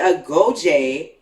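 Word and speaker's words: Agojie: Okay, so the Agoje, right? Yes. That's the pronunciation.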